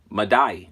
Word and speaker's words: Madai: And it says Madai. Okay, that's how it pronounces, and that is what 4074 in the Hebrew.